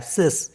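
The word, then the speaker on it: six: स करके पढ़ा है सिस सिस मतलब सिक्स और डी आई एक्स इसको पढ़ते हैं दिस दिस मीस 10 अब इसमें भी एक रूल है कि the last letter x इज not pronounce in सिस and this one used with nouns अगर नाउन से पहले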